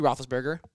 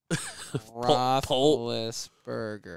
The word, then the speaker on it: Roethlisberger: Roethlisberger. Pull the... Oh, there's an I? Yeah. Roethlis, like Liss.